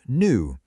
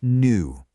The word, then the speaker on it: new: hear it pronounced as new. See that little J symbol? It represents a yes sound, that little glide at the beginning. New. But in the US, it's typically a cleaner, more direct new.